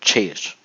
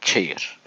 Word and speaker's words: chair: C ve H yan yana geldiği zaman ç harfini çıkartıyor. Chair ama mesela eee ortadaki örneğin en üsttekine bakın. Kot K harfini çıkartıyor. Demek ki C yanına gelen harfle birlikte çok şey değiştiriyor. Chair. Chair.